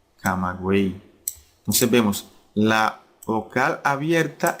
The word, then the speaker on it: Camagüey: Porque la Y no se pronuncia como en yate o en yegua, ¿verdad? Sino que se pronuncia como I latina, buey, camagüey.